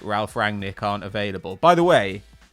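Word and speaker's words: Ralf Rangnick: the way let's because it's Ralph rang Nick not Ralph Rag Nick Hamill does this as well he leaves out this n in Ralph rang Nick's name it makes me furious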